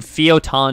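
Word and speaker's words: Fio'taun: so it's it's the city is called fiotan and fyoton is spelled fio apostrophe t-a-u-n so f-i-o apostrophe t-a-u-n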